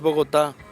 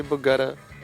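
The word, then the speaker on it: Bogotá: Well, the right way to say is Boota, but uh yeah, Boota, but just so many people say Bata cuz we've been playing in Boota for 13 years now.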